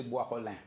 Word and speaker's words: Boisrolin: ¿Cómo se pronuncia? Ahí va. Exacto. Henry Boix-Rolling.